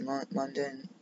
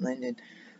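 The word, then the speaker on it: Lundin: I looked at Cody London, I should pronounce that Linden.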